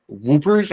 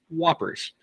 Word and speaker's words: Whoppers: Also, Adam does back up my, original pronunciation of Whoopers. Are you guys serious? Get with it. Holy fuck. Learn your candy. It's Whoppers. Well, I feel like it's